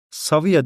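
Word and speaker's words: Cavia: Saviya diye okunuyor bizde Latince kısmında. Yani C'ler hep S diye okunuyor.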